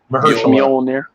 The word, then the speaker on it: Mahershala: Mahershala.